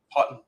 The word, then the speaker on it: Houghton: It's like cotton, but hot cotton. Yep. Houghton. Yeah. I'm going to go with Houghton.